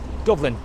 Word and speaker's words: Dublin: Dublin, not Dublin, but English speaking will always refer to that, will pronounce b, where in Irish it's pronounced with a V or an F sounding, so it's Dublin.